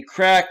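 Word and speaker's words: craic: is oh it's crack it's pronounced crack I never heard you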